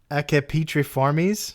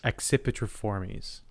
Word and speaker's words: Accipitriformes: Accipitriformes. Accipitriformes. Oh, it's a C, soft C, and a hard C.